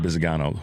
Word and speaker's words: Bisignano: and the conversation around the nomination of Frank Bisignano, if I'm saying it right, Bisignano, right?